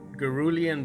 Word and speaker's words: cerulean: yellow pale hue, believe it or not, some cerulean blue hue. That's how it's pronounced.